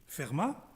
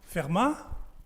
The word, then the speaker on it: Fermat: the talk will be Fermat. So maybe you could ask, how do you pronounce it? Fermat? Fermat? Like you say from some places, Muret, Fermat in the local language.